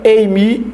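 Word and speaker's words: εἰμί: E se pronuncia eimi mesmo.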